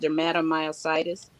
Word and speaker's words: dermatomyositis: wording up so tell them look how you pronounce it and exactly what your autoimmune mine's is called dermatomyositis which is an inflammation of the muscles so